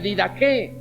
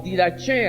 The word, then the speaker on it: didaché: Y si hablamos de didaqué o didaché, algunos pronuncian de esa manera, didaché o didaqué, es la palabra griega que describe la enseñanza en el pueblo.